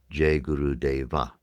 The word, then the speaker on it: Deva: sings Jay Guru Dave he pronounces the final a juru deva in his song.